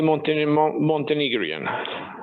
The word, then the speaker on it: Montenegrin: How do you say Montenegrin? Montenegrian? How do you say? We say Montenegrian.